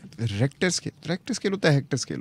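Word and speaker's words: Richter: rector रेक्टर scale अच्छा rector को आप देखो स्पेलिंग इसकी क्या है नहीं आर ई सी एच एच अजीब सी बात रेक्टर स्केल के स्पेलिंग अगर हमें कोई पूछ रेक्टर स्केल तो हम सधा कहेंगे आ सी टी ई आर टी ओ आर इस तर करेंगे वो आर ई सी एच करते हैं हम तो रेक्टर स्केल के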